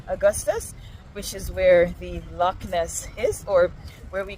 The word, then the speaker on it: loch: First of all, there is the loch, not pronounced loch, but rather loch, loch.